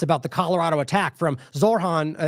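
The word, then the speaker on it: Zohran: the Colorado attack from Zorhan Zoron how do you say that it's Zoron prior to this one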